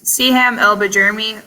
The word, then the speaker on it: Siham El-Bjeirmi: By the way, I love your name, and I really don't want to mispronounce it. How do you say your name? It's Siham El-Bjeirmi, or I go by for short when people use my last name.